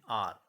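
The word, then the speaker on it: hour: जो है साइलेंट है, जैसे an honest man, एन आर, एन आयर। यहाँ पे आप देख रहे होंगे बच्चों एच साइलेंट है और उसके एकदम बाद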